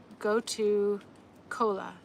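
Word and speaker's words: gotu kola: Uh, go-ka is spelled uh G O T A and then a new word, right? And then C um K O L A. So G O T U go to cola.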